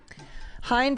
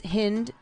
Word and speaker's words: Hind: They unfurled a banner reading Hind's Hall, renaming Hamilton after Hind Rajab, a Palestinian boy.